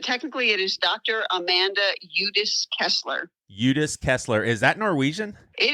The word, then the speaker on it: Udis-Kessler: Amanda Udis-Kessler.